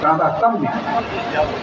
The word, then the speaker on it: तादात्म्य: शरद जी रोज आते हैं, शास्त्र पढ़ते हैं, जहाँ भी तादात्म्य संबंध आता है तो तादात्म्य, क्योंकि उसका जो प्रोनाउंसिएशन है ना, उच्चारण तादात्म्य।